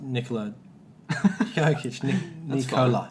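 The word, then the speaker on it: Nikola Jokić: No, it's Nikola Jokic.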